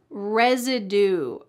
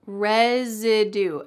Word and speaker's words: residue: Residue. Residue. Note that the S here is pronounced like a Z.